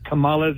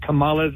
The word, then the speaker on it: Kamala: to remember how to say kamala's name is to think of the word comma as in you know the sentence as in using a comma and a sentence uhhuh wait but I